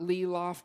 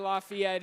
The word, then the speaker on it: Lafayette: the Lehi lafette game not leof by the way for any young alumni who are here in the room pronounce all all five syllables please but Lehi Lafayette is as vibrant as